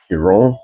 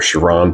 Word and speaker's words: Chiron: be uh grammatically correct everybody pronounce it a little different but I think uh Bugatti which is a French made car manufacturer pronounces this Hon pure sport or Chiron pure sport however you want to say it don't call me